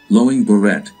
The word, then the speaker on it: Long Boret: Long Boret, Khmer, pronounced Loing Boret, January 3, 1933 to April 21, 1975, was